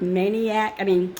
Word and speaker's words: MAINEiac: It's spelled like the word maniac. Maine, like the state of Maine. And then she goes IAC, I-A-C on the end.